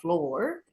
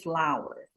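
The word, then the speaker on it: flour: So the correct pronunciation of tepung is not floor, it's actually flower. It's called homophone. Ya, homo sama phone sound. The same sound ya. In English ba juga ada ya, homophone, homograph. Sama ya the same sound. Jadi bunyinya exactly the same as bunga, flower but different meaning.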